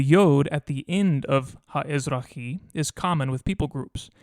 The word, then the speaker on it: הָאֶזְרָחִי: common with people groups, and the aleph at the beginning was probably added for the sake of pronunciation, so that the word doesn't begin with a cluster of consonants.